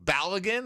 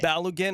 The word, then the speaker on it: Balogun: Balogun or Balogun. Oh, Balogun or Balogun? It's how they pronounce the O. Yeah. Balogun. Just Bala. Like Bala, like a short A.